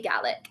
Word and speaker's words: Gaelic: the word ga the ga word is is pronounced in Scots ga whereas in Irish Gaelic they say Gaelic.